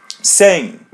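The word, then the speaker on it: sem: Same. Same. Same. Yeah. The letter M is pronounced as a the same as bane.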